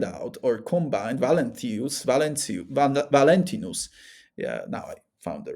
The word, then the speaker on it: Valentinus: So uh he starts to find out or combine Valenthus Valenc Valentinus. Yeah. Now I found the right pronunciation.